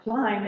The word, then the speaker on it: climb: Like climb ends with a silent B, and the I looks like it should be a 4I, and it's a long I.